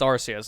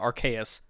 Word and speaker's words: Arceus: call wrong it's like it's Arceus it's not archaeus I always call them Arceus now what does Nintendo actually want people to call that I think it was arcade or Arceus I think I think